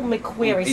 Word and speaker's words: McQuary: mcq where white mcqueary spell that spell that last name the last name is m.c capital q-u-a-r-y but it could be mcqueary really fast which is m-c-q-u-a-r-y